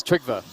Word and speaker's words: Trigva: I have to correct you, so it's Trigva. Trigva, okay. It's Trigva, yeah, I've got to correct you. Otherwise, I'm sure people will be like, I can't say his name right.